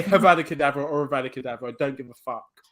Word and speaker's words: Avada Kedavra: Is it abracadabra? Avada Kedavra. Avada Kedavra. Yeah. Is that the correct pronunciation?